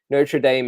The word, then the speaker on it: Notre Dame: cathedral in Paris but Notre Dame is an American University and that's how the Americans pronounce it um but to University of Notre Dame has a has a